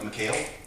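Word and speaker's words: Michale: Correct, like McHale. Good, okay. See, I was listening. That's But I've always been called my whole life, so, but I always say phonetically it'd be like McHale.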